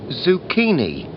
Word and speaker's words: zucchini: Z-U-C-C-H-I-N-I. Thanks. How do you pronounce it? Zucchini. The stress is on the second syllable.